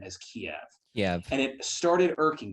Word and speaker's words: Kiev: to look it up i guess kiev was the traditional russian way of pronouncing it and so since it's